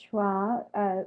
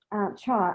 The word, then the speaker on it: Chau: So also, you're being asked whether John Allin Choir was trying to, Chau, I don't know why I keep mispronouncing Chau, was trying to replicate the challenges